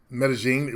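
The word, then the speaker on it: Medellín: I don't know why it's called medine it's spelled me l l i n maybe um Aries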